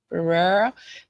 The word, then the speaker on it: Barrera: How do you say it? Beria? Is that it? Barrera. Barrera? I've never heard of Barrera. Yeah, that's his last name.